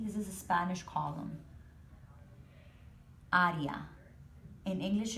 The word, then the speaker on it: área: You hear a change in the A sound. Instead of area, you say área.